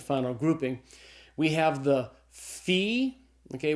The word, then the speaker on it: phi: grouping we have the fee okay what's the pH sound like in the English word phone so the fee is a sound F sound the next letter I